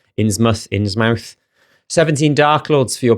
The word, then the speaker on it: Innsmouth: In the UK, I think we'd pronounce the mouth as muth, because I had a friend who was from somewhere that was something mouth and it was something muth. Innsmouth.